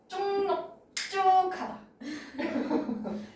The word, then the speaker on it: 넙죽하다: 다음 하나 더 여기 기역, 니은 만났을 때 비음을 같이 넙쭉하다 이거 해야 되지? 그래서 최종 발음은 넙쭉하다입니다.